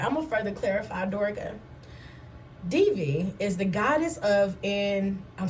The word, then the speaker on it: Durga: As an aspect of Devi was called into being in the rid of the world of evil demon Durga, pronounced Durga.